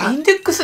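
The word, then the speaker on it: 禁書目録: でとある魔術のインデックスこれインデックス」って読むの知らんかった 3100万部 83 位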